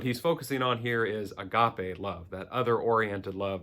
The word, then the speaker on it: agape: then the third greek word for love is agape agape a-g-a-p-e is how we spell it in transliteration but agape is love for